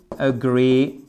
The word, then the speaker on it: agree: I agree. I agree with et c'est pas with, c'est with. I agree. Agree. Vous avez votre accentuation sur la deè sur la seconde syllabe au passage.